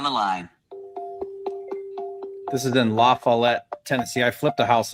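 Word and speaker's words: LaFollette: Accent on fall.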